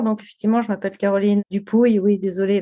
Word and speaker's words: Dupouy: effectivement je m'appelle Caroline dupouille oui désolé la prononciation c'est du Pouille c'est un nom Landé hein voilà je suis